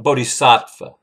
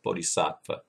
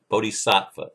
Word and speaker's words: Bodhisattva: A Bodhisattva. I'm sorry, I'm saying the word wrong. Bodhisattva. I knew it sounded wrong when I said it before. I thought, that doesn't sound right. Bodhisattva or a Christ.